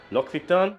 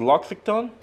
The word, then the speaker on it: L'Occitane: L'Occitane.